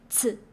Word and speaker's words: 此: So CI, the I actually doesn't matter. You have to focus on C. Do you remember C is actually TS. And you have to replace C with TS, like tests. Now voice it, 此, and give it a third tone, like bouncing tone.